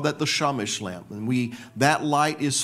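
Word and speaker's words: שמש: But the word Shamash, Shin Mem Shin, can also be pronounced Shemesh.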